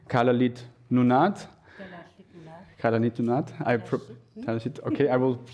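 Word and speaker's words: Kalaallit Nunaat: the traditional Greenlandic language, I hope I do pronounce it correctly, Kalalit Nunat.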